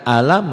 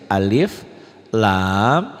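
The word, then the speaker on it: الم: Nah, ini animasinya kita lihat ke sini cara membacanya bukan alam yaah, tapi alif. Ini sesuai dengan huruf aslinya tuh alif lam.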